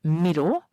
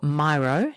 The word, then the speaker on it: Miro: If we are doing our quarterly planning virtually, I use a tool called Miro, or Miro, depending on how you like to pronounce it.